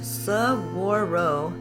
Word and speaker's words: saguaro: carnigia giantia this is the saguaro cactus pronounced subwaro here in Arizona it is an icon